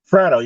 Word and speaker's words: Fratto: Is it Bernie Fratto? How do we say that? Fratto, you nailed it right out of the gate.